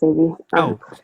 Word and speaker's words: Zavi: Hi, it's pronounced Zavi. Sorry, it's Zavi.